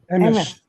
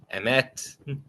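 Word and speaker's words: אמת: have a pronunciation for truth in Jewish? Emes. There you go. Emes, emet.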